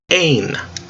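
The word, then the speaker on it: ἦν: you know the sounds eita is a long a sound a 8nu is an end zone na na nu put it together eh-eh-eh Ain all right going through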